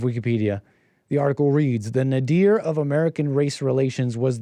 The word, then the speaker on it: nadir: I I I I think it's pronounced Nader sounds Arab that's not